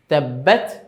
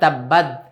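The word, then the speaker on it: تَبَّتْ: তো তাশদীদ গিয়ে তাকে ধরলো, অনেক সময় তাব্বাদ, হ্যাঁ তাব্বাত তটাকে অনেক সময় মানে তাটাকে অনেক সময় দালের মতো উচ্চারণ অনেকে করে ফেলে, এদিকে খেয়াল রাখবো। তাব্বাত তা যেন একটা হালকা যে এরকম একটা বাতাস বের হওয়ার মতো থাকে, সেভাবে যেন হয়।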